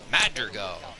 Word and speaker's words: Madrigal: As Nick Madrigal, that's how you pronounce that, comes in here.